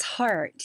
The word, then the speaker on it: Hardt: It's heart. Yeah. It's just spelled like the the double trouble boy German DT.